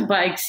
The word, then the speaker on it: BYCS: i think you just call it pronounce it bikes right we pronounce the bikes yes it's as simple as it is it's